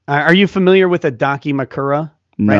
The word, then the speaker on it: Dakimakura: Are you familiar with a Dakimakura?